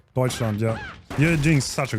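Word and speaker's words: Deutschland: And we hopping in Argentina versus Deutseland. Did I say that right? Deutscheland. Yeah. You're doing such a good job pronouncing names.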